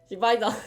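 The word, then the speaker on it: CPython: C Python.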